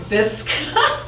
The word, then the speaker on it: Visk: So, Visk, so I always want to put an extra syllable in there.